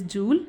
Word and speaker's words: joule: The SI unit of energy is joule. Some pronounce as joule, no problem. It is joule.